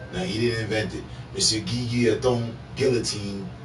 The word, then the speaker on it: guillotine: he didn't invent it guillotine geekia i'm putting a friend's enunciation on it that's how it's pronounced uh invented the guillotine